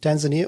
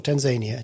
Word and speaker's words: Tanzania: Next story comes out of two ways to pronounce this country, Tanzania or Tanzania, depends on where you're from.